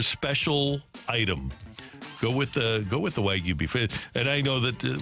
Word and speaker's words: Wagyu: By the way, what's the proper pronunciation in your opinion? What you just said. Yeah, Wagyu. Okay, good. Wagyu or Wagyu? Wagyu. Okay, cool. Good.